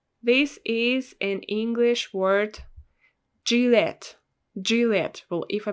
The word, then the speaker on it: Gillette: is an english word gillette gillette well if i pronounce it correctly because in russian we pronounce it as juliet juliet juliet sounds different yeah gillette juliet here